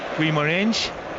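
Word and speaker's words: Guimarães: That is how you say it in the Brazilian Portuguese. Yeah. He might develop into Guimaraes because many people tend to anglicise Portuguese players here.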